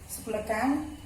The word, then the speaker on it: Tsuklakhang: ये यहाँ की एक घूमने की जगह है, सुक्लाकांग, उसको बोलते हैं सुक्लाकांग, टी साइलेंट है, ठीक है, टी इज साइलेंट।